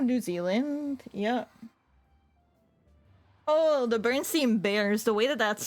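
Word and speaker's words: Berenstain: Oh, the Bernsteeen bears. The way that that's spelled. Yeah. Bar stain.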